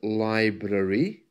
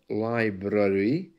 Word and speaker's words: library: to let you know the word library has a kind of an AR sound which is unusual because